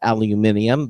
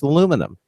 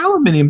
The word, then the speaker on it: aluminum: and and and find out that it's not pronounced aluminium but it's pronounced aluminum British of course aluminium is okay well yeah I I grew up